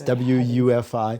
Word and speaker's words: WUFI: that's the software program that i what does woofy stand for again it's wufi yes i'm sorry but it's in german it's